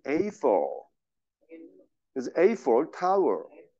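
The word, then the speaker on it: Eiffel: 근데 이거를 에펠이라고 발음하지 않고, 정확한 발음은 에이펠.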